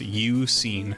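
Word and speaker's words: Eusine: an anagram of suun I actually never knew how to say this guy's name until writing the script of this video I had to look it up apparently it's uen in Crystal there isn't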